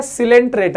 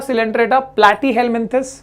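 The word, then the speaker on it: Coelenterata: Second है सिलेंट्रेटा, ये pronounce करना सीखो पहले, पोरीफेरा, सिलेंट्रेटा, ठीक है।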